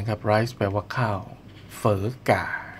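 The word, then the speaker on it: Phở gà: Rice แปล ว่า ข้าว เฝอ ก่า เ อ่าน ว่า ไม่ อ่าน โฟกา นะ อ่าน เฝอ กา นะ ฮะ เป็น เฝอ เ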